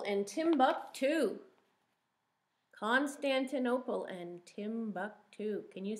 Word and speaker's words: Timbuktu: too like constantinople and timbuktu constantinople and timbuktu can you say that constantine oh paul how many syllables is that constantin oh pull five syllables tim buck two tim two three syllables say say what does